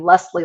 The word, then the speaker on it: Lesle: three and then also my name Lesley L SLE e it is spelled odd lesle um and you can